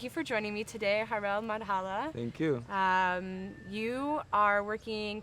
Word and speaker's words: Harel Madhala: Harel Madhala. Yeah, Okay. that's the way to pronounce my name.